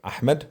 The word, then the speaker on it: Ahmed: my name so my name is Ahmed or Ahmed is the right way to say I already